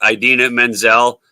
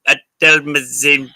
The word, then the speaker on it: Idina Menzel: of pulled the Rhonda and went, please welcome Adele Mazim.